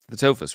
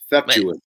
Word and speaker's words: Theftuous: How do you say the band name? Is the Theftuous, right? No, Man, Theftuous. say it again. Theftuous. Wow, I was way off.